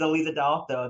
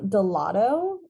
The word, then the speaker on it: Aleeza DeAlto: that you've had um delotto is a fan favorite um gelato i think it's like